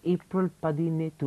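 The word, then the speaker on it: April Pathinettu: It was an amazing movie called April Padinetu. Am I pronouncing it properly?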